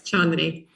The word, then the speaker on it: Chandini: I know it can stump quite a few people in terms of pronunciation. I've had lots of different variations of the name, but yes, Chandni. Chandini, me included.